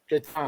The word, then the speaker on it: Gatan: Is it Gatan or Gayton? At 74. Gatan? Gatan. Yeah. Gatan, he's done a good job as well.